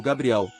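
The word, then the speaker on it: גבריאל: Gênesis 15 a 18 o nome Gabriel também foi modificado sendo pronunciado no hebraico antigo Como gabrial significa o Poderoso Homem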